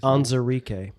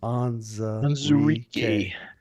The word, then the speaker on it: Onwuzurike: Onwuzurike. Onwuzurike.